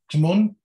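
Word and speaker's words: Taghmon: Is that how you pronounce it? T-A-G-H? Timon.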